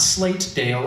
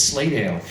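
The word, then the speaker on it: Slatedale: County and you'll notice I pronounce that the way people pronounce it locally not slate Dale it's slay Dale and um Dennis Rex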